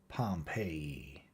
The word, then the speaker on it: Pompeii: buried city of Pompeii they pronounced it Pompey II I always had an